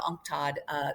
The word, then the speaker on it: UNCTAD: But I would say one of the most critical right now, not only critical for us, but as you talked about, UNCTAD, is how we pronounce it, which is the Commission for Trade and Development for the United Nations.